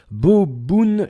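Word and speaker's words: bo bun: moins drôle m cheedœu de bouffe vietnamien se prononce boboun Cho ch j boboun chat Jio ok va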